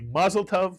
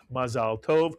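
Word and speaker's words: מזל טוב: And whether you say mazel tov, which is the Yiddishization again of the Hebrew mazal tov, or you say it in the Hebrew Sephardic pronunciation of mazal tov, in either case, you're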